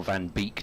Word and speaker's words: Van Beek: the horn there for Logan Van Bake's arrival or Van Beek depending on your preference, but the Dutch pronunciation will be van. I'm not quite sure what they call him in New Zealand, but it certainly won't be the the same combination of vowels as we would have here.